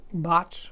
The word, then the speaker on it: Bache: makes speakers the name of your company is bot audio i pronouncing it correctly yeah and let's see you